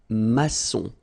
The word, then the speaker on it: maçon: And it just means that you will pronounce this C as S, okay? So that's the reason why. It's un maçon, son, okay?